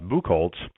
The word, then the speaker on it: Buchholz: You recently wrote an article quoting economist Todd, I believe the last name is pronounced Buchholz, who said that economic illiteracy is dangerous.